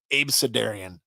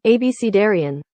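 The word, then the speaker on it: abecedarian: never heard that before does it look like that it looks like ab ab sedarian or look like abidan AB sedarian but no it in fact is pronounced abcarian abcarian okay so ridiculous you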